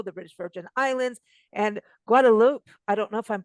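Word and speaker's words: Guadeloupe: good good thanks for having me is it guadalope guadaloop it's guadaloop that's how that's how I learned how to pronounce it so you were you were not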